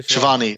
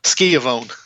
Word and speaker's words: Schiavone: I listened to, after I watched the show, I listened to Tony Schiavone's, how do you pronounce that? Shivani. Tony Schiavone. Yeah. Tony Schiavone, right. Skiavone, as Jericho used to call him.